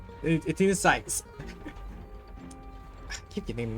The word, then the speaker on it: Athena Sykes: But now considering right now, she's more like Athena Skies. Athena Sykes. I keep getting the name wrong, but yeah, she's more like Athena.